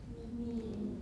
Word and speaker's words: knee: Knee. Knee, right. What's that K doing there? We ignore it. It used to be pronounced.